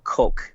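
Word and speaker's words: kok: It's spelled K-O-K. People pronounce it the other way. They pronounce it cock, and I think I've pronounced it that way, right? I mean, not thinking that it's cock, but it's coke. But it's coke, yeah, Okay. like the Coca-Cola Coke.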